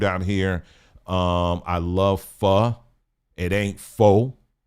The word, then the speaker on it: pho: Um I love pho. It ain't pho. I tell myself that all the time. Cuz it's spelled p h o and sometime I say, I want some pho.